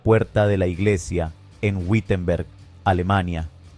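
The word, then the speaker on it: Wittenberg: de la iglesia en Wittenenberg, Alemania. Whtenberg. pronunciado en alemán.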